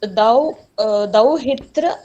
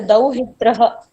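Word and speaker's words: दौहित्रः: That's thou hitra or thou hitraha. Thou hitraha. So, son's son, pautraha. Okay. Daughter's son, thou hitraha. So that pronouncing with the visarga is a must.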